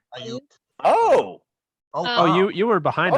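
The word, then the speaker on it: Aiyuk: Ayuk, Pittman, Mims.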